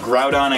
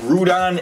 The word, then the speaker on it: Groudon: I guess I'd have Groudon and Kyogre the proper way to pronounce them they pronounce it rude on and Kyogre e and it's kind of